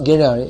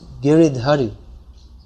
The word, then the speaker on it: Giridhari: If I say, someone might explain, actually it's not Giriyai, it's Giridhari.